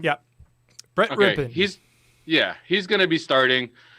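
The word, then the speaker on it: Brett Rypien: Yeah, Brett Rippin.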